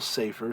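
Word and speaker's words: ספר: It's accented on the first syllable, Sefer, so its construct form and its absolute form are going to be identical.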